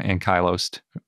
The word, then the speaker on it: ankylose: and it's pronounced ankylos sort of like the alternate pronunciation for Ankylosaurus and in this case